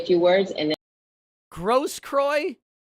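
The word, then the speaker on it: Grosskreutz: if my client mr gross kroy i would like to say a few words gross kroy that's how you pronounce that name and i would like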